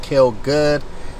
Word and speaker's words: KILLGXXD: i l l g x x d is pronounced kill good holla at me beautiful gucci bruh that 2005.